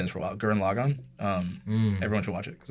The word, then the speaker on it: Gurren Lagann: Gurren Lagann. Everyone should watch it because it's really good. How do you say that one more time? Gurren Lagann.